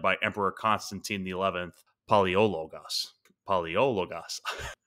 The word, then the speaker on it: Palaiologos: Palaiologos. That's a bit of a mouthful. Yeah, no, that's how you say it.